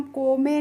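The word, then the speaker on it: come: अब है सी ओ एम ई तो इसको हम को में नहीं पढ़ते हैं। कम पढ़ते हैं।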